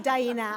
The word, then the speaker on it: Daena: Daena helped me pronounce her name by saying it rhymes with hyena. So thank you, Daena.